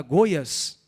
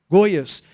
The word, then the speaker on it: Goiás: o que era Goiás americanos têm dificuldade de pronunciar o acento agudo as vogais e ele falou vai para Goiás Goiás e não tinha Waze